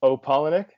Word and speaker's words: Opalenik: Opalenik. That's how you Yeah, pronounce it, isn't perfect.